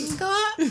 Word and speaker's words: Pingala: Is it Pingala? Or is it Actually, it's Pingala. It's very breathy.